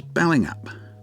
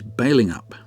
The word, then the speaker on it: Balingup: for years I've referred to this town as Belling up but apparently the correct pronunciation is bailing up there are a number of attractions and events